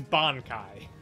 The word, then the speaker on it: Bankai: then my husband saying if that's a bleach reference you guys are pronouncing are wrong ignoring well I don't know that it is it is Ban Kai Bon is there just